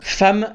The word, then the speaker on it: femme: Femme, ça s'écrit avec un e et ça se prononce avec un a.